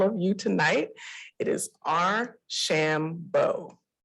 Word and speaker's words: Archambeau: that with all of you tonight it is our shambo our shambo right and i was so happy to have